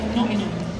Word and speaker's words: Nottingham: had to say that not say Nottingham like an American Nottingham so uh tell me what it was like growing up in say like notum notum yeah how you